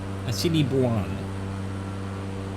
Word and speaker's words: Assiniboine: Plug for Bing, even though it's spelled B-Y-N-G. Good enough. And then also... So, Lunette Peak seems to be Mount Assiniboine on Google.